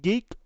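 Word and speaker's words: GEEIQ: geek gei IQ it's it's pronounced geek but it's spelled g-e-e-i-q but I'm not I'm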